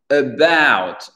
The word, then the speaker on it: about: About. About. L'accent tonique, il est sur le B-O-U-T, pas about. About, non, about.